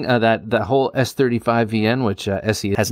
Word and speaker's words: ESEE: So you said that was SE knives, is how you pronounce SE, it, but it's, yeah, it's spelled ESEE.